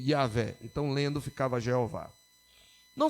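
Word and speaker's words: Yahweh: eles pronunciavam Adonai e por causa disso é que nós temos a uma pronúncia provavelmente equivocada Jeová é porque os judeus ah aqueles que colocavam sinais vocálicos eles colocavam as vogais de Jeová no nome as vogais de Adonai no nome de yahvé então lendo ficava Jeová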